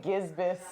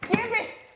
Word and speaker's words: gibbous: Betty said waxing gisbus. I was like, what is that? It's a phase of the moon, but it's gibbous.